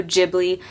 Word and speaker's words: Ghibli: the japanese characters and it is actually Studio Ghibli not Studio Ghibli so apologies for those